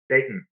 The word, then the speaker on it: Dayton: Of course, here in Dayton, let me say it like a local. Dayton, day, glottal, stop, in. You're not supposed to hear the T.